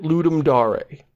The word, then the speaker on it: Ludum Dare: um space da re now anybody who's just you know monolingual Anglophone like us would probably look at those words and go let him dare and but Chris Franklin who went to gain college basically always pronounced at Ludum dare a so I was like